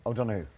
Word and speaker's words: O'Donoghue: Colin O'Donoghue is with us. O'Donoghue. Come on, say it like O'Donoghue. Oh, it's so much better.